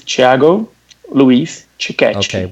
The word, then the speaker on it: Thiago Luiz Ticchetti: name so we know the right way to pronounce your name please it's chago Luis Chickasha boy did I ever get that wrong I'm